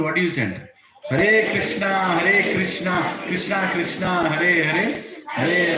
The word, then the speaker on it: Krishna: Spell it completely. Don't say Ram. Rama. Then it's complete mantra. Krishna, not Krish.